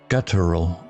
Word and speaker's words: guttural: Guttural sounds like gutter. Stress on gut.